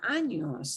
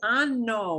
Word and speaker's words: año: Never pronounce this as ano with just an N because that means anus. That's not what you mean. That's not what you mean. You mean año.